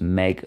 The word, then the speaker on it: mbeidh: Pronounced meg like a girl's name.